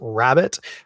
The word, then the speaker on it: rarebit: Genuinely delicious dish, pronounced by most English speakers as rabbit, but spelled Rarebit, rarebit.